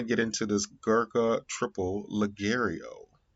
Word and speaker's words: Ligero: So we're gonna get into this Gurkha Triple Ligero. Ligario. I think the G is silent.